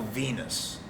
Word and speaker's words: Venis: thing he said was the character's name is val venus okay and he goes the last name is spelled v-e-n-i-s and i go v-n-i-s